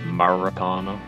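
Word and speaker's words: Maracanã: like one bit boss it's pronounced Maracana okay I spit like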